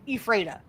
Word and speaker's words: Ephrata: I also heard Which that is near Ephrata, or as we say, the locals say, Ephrata.